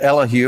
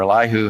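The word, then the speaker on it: Elihu: about his situation that elu or eliu however you want to pronounce it he said I'm the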